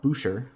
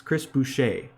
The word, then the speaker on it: Chris Boucher: foul calls like dude chris boucher that's how you pronounce it right it's not boucher it's chris boucher chris boucher should not